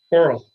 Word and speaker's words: Korell: Coral. Like coral Coral? reef. Okay. Coral reef.